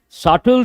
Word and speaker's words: subtle: Subtle changes. Subtle changes. What is the spelling of subtle? B is silent.